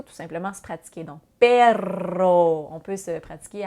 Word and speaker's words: perro: Par exemple, si vous prononcez perro, perro, en faisant rouler votre R un petit peu plus longtemps, ça veut dire un chien.